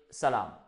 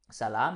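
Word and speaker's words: سلام: Tout simplement, on peut dire salam. Salam, c'est ce qui est là. Salam, c'est juste la prononciation qui est là.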